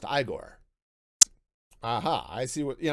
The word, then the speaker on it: Igor: And it's like, ah, so you must be Igor. No, it's pronounced Igore.